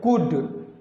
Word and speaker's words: could: जैसे कुड, तो COULD यहाँ पे लिखा गया है कुल्ड, लेकिन इसको कुल्ड नहीं पढ़ेंगे, L साइलेंट हो जाएगा, इसको हम कुड पढ़ेंगे।